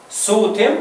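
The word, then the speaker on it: ⲥⲱⲧⲙ: سوتم سوتم سوتم سوتم ده النطق بتاعها سوتم النطق لغه مصريه قديمه طب والكتابه بتاعتها الحروف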